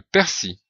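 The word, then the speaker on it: persil: un mot masculin le persi VO c'est le persi avec le l final qui n'est pas prononcé les oignons c'est le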